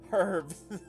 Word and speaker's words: herbs: She pronounces the H. Herbs.